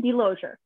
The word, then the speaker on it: DeLozier: Sure, DeLozier. DeLozier, that was it.